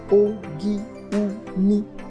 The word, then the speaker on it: Ogun: top of the rock the word o-g-u-n pronounced in jeruba as o gi-mi has different pronunciations and